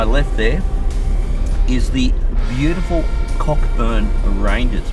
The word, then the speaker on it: Cockburn: over to my left there is the beautiful cockburn ranges pronounced Coburn but where would be the maturity to pronounce